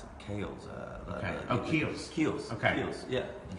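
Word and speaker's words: Kiehl's: And No, it's the it's like the I don't know how you pronounce it. Kales. Keels.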